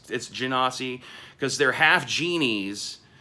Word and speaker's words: Genasi: You want to know why it's Genasi? Because they're half genies. That's where the Gen part of Genasi is being derived from, is genie.